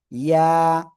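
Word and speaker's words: ياء: জিহ্বার মধ্যখান তার বরাবর উপরে তালুর সাথে লাগিয়ে জাস্ট এক আলিফটা নিয়ে উচ্চারণ করতে হবে। ইয়া ইয়া, সবাই একসাথে জোরে জোরে উচ্চারণ করেন, সবাই সবাই, কেউ বাদ যাবে না।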